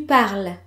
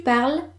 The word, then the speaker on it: parles: Tu parles. Je parle. Tu parles. Both pronounce the same, but notice the S at the end of tu parles, because parler is a regular ER verb.